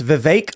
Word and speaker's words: Vivek: Gary says it's Vivek like cake.